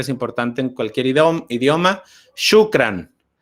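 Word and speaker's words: شكرا: Shukran. La O-U se pronuncia como U.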